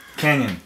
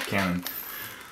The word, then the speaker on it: Canon: 70 Canyon remember guys you're supposed to pronounce it the cool way Canyon not Cannon anyway this is the